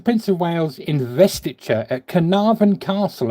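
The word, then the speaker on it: Caernarfon: Uh his royal highness, the Prince of Wales investature at Canavan Castle, I believe it's pronounced. That's C A E R. Canavan Castle, 1st of July, 1969.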